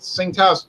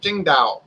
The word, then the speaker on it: Tsingtao: one of those Tsingtao Bo she said not pronounced sink house pronounced Qingdao I said okay down Qingdao she the Ching